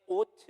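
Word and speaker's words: אות: 그 만나와 매출하기, 즉 하나님께서 나타내신 모든 자비하심으로 말미암아 나타내신 하나님의 오트, 히브리어이기 때문에 오트라고 발음합니다.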